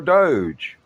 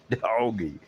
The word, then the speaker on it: DOGE: are, but we are Doge. I know it is spelled D-O-G-E. It could be doggy, but we don't want to go there, especially not with His Excellency, Mr.